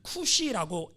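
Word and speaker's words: כוש: 에디오피아 먼저 여러분 히브리어로 보면 쿠시라고 에디오피아를 발음해요. 쿠시.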